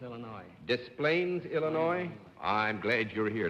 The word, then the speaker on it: Des Plaines: From Des Plaines, Illinois. Des Plaines, Illinois? I'm glad you're here. Now I know how to pronounce that name and not get my skull